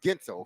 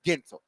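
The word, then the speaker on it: Guentzel: Gensel. Gensel. See? See? Yeah, Gensel is not. You don't even pronounce it. There's no sounding of the U in there at all. No. Right. It's Gensel.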